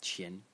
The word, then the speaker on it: 前: character which is pronounced Chin Chin in the second tone and it means uh